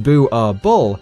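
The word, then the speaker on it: Boerboel: are illegal in Norway Bua ball pronounced boo a bull is a Dutch Afrikaans word for farmers dog this breed was created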